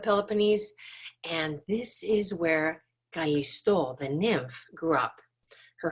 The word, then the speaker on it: Callisto: She was a very accomplished young woman, and her name is Callisto. In English, sometimes people say Callisto. So I'll try and say both the English and the Greek pronunciation just so that you know what it's supposed to sound like.